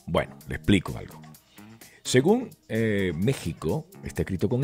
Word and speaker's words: México: Texas Está correcto Bueno le explico algo según México está escrito con x y la gente lo pronuncia con j porque nuestros nuestros ancestros pues